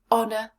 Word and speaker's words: honour: Now let's look at the second word. Honour. Honour. 2 syllables. Let's break it down again. First syllable, O, short vowel, n, on, just like in honest. Second syllable, short vowel, unstressed. Let's put them together. Honour. Where is the stress? Honour. Yes, it's at the beginning again.